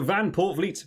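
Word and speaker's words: Van Poortvliet: in alongside Marcus Smith I've learned how to say his name basically correct now because I heard him say it I have seen a couple of comments saying you pronounce his name really weirdly well I've listened to the man himself now say his own uncertainty so van portvliet will remain there in the in the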